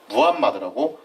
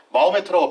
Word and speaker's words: 무함마드: 이제 교과서에서 뭐라고 쓰냐면은 무함마드라고 쓰게 됐다는 거죠. 마호메트는 무함마드입니다. 그래서 참고로 아랍 사람들은 마호메트라고 발음하는 걸 굉장히 싫어해요. 무함마드라고 하는 것이 예의상 맞기 때문에 무함마드라는 이름으로 쓰도록 하겠습니다.